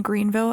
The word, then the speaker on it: Greenville: after living in Alabama, they have a lot of places named something, but they don't pronounce it Vil.